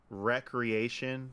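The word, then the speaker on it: Wreckreation: name of the game recreation but it's spelled wreck like w-r-e-c alright yeah it look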